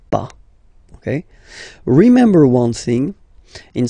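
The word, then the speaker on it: pas: after that pa okay we write it p s okay but as usual final s is not pronounced so it's pa okay remember one thing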